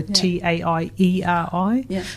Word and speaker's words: Taieri: That's just sometimes what happens, and so now it's spelt with a E, so Taieri. So taieri would be the pronunciation if you were going to pronounce it as written.